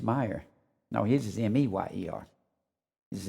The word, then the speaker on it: Meyer: He pronounces his Meyer.